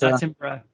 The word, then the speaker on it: Attenborough: I can never pronounce his last name correctly, but David Attenborough.